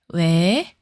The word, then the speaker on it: ㅟ: Push your lips forward and say your sound like e.